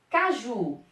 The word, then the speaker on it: caju: Aqui, caju, caju. Eu falo caju ou eu falo caju? Caju, ó, essa é a sílaba mais forte. Caju é uma oxítona.